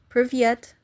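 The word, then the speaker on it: Привет: Privyet. I have to remember to pronounce the T.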